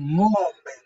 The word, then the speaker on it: ngombe: Then ngombe, ngombe. Ngombo. Don't try to pronounce N. Just say ngombe, ngombe.